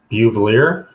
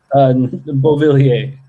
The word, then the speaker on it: Beauvillier: Buvelier? Is that correct? Is that correct pronunciation? Beauvillier.